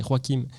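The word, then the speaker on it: Joaquin: Parce que oui, il faut prononcer Roakim et la voix de Scarlett Johanson dans le film Her ou elle.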